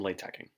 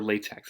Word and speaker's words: LaTeX: function okay so let's do some latching or latex as I like to call it to annoy people who know the correct pronunciation um so we have